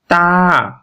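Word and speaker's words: ت: মাখরাজ যদি আমরা দেখি তা এর মাখরাজ হলো জিহ্বার আগা উপরের দাঁতের গোড়ার সাথে স্পর্শ করবে এখানে যে চিত্রটি দেখতে পাচ্ছেন এই যে জিহ্বা জিহ্বার চিত্রটি ওই যে দাঁতের গোড়ার সাথে লাগবে লেগে উচ্চারণ হবে তা এবং সামনে যে ঠোঁট আছে ঠোঁট ফাঁকা থাকবে উচ্চারণ হবে তা তো এভাবে উচ্চারণ করতে হবে ধীরে ধীরে তো আমরা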